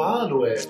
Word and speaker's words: aloe: un guendi di raffinato Aloe o di semplice Aloe in quest'ultimo caso vince la prima versione si dice aloe con l'accento sulla Ma non è questo il